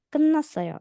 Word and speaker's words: 끝났어요: 저녁 식사 준비가 끝났어요. Nah, ini tadi bacanya 끝났어요. Tiet yang ini kalau di depannya ada nian, dia juga dibaca jadi nian. Jadi bukan 끝났어요 tapi 끝났어요.